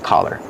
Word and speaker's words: collar: Pronunciation, use the sound ah, the open sound ah, like hot and stop. Ka, collar. Don't be confused with color. Color has the short sound like cup and up.